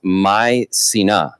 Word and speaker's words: Mycenae: Yeah, so it's actually pronounced Mycenae. Mycenae. So m y s e e n u h want to clear that up.